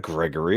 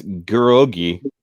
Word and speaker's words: Gerogi: tundras yet a permafrost that's not gregory i just realized that it's it's gerogi gerogize i've been saying his name wrong all this time uh gerogi